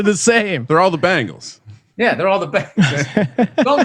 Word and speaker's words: Bengals: My buddy says Bangles, like the girl band. Yeah. It's Bengals.